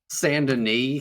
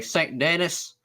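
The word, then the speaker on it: Saint Denis: so funny how the people in Red Dead like all say like sand and knee which is like stuff like the most French name ever like they say it correctly I feel like if you're a cowboy you'd say Saint Dennis but that's just maybe perhaps I'm going over to Saint Dennis but everybody said things exactly right um I I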